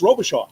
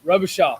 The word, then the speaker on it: Robicheaux: But now it's Robicheaux. Robicheaux. I heard it's a little Cajun.